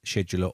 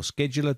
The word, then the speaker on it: scheduler: back down to the task scheduler or scheduler depending on how you say it and then open